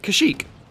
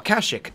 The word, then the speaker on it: Kashyyyk: And Kashyyyk, or Kashyyyk, depending on how you want to pronounce that.